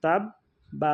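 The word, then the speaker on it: تَبَّ: উচ্চারণেই শেষ করতে হবে যেখানে যদি আমরা থামি তাহলে তা বা জবর তাব বা জবর বা তাব্বা তবে শেষে বা উচ্চারণটা অত বেশি বড় করার দরকার একটু ছোট করে হবে হ্যাঁ তাব্বা এভাবে তাহলে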